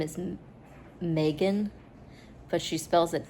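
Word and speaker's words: Magan: It is pronounced Megan. One of the characters pronounced it Megan and got corrected.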